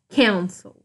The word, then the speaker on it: cancel: Ó, cancel, cancel. Eu tenho um CVC aqui no final? Tenho, ó, consoante, vogal, consoante. Mas a minha última sílaba não é mais forte, minha sílaba mais forte é o can, tá?